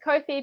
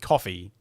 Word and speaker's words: Ko-fi: kofi or kofi uh it's kofi because it rhymes with sophie from what i've been